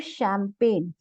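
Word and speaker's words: champagne: है decorative item है फिर शैंपेन शैंपेन खाने पीने से रिलेटेड है तो यहां पे जो सीच है वो श की तरह प्रोनाउंस होगा तो सिंपल वर्ड्स में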